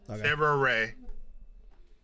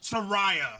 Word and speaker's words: Saraya: Sarah Ray, right? Who? Sarah Ray. Isn't Saraya? Saraya. Yes. Brother, Sarah Ray is a better name, low key though. But I'm just going, whatever. But Saraya, I'm not a big fan of her.